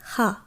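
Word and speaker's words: rat: যদিও এর বানান কিন্তু ইংরেজি ভাষার মতোই, কিন্তু যেহেতু আমরা শেষের অক্ষরটি উচ্চারণ করব না এবং এর উচ্চারণ ফরাসি ভাষায় হয়ের ন্যায় হয়, তাই এর উচ্চারণ হবে হা, হা।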